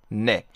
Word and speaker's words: ne: And actually, in my language, in Hungarian, we use this word as well, and we pronounce exactly like it is pronounced in Korean, just ne.